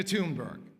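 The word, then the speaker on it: Thunberg: Greta Tunberg, that's how she pronounces it, began sitting outside her nation's parliament with a handmade sign that said, "School strike for climate."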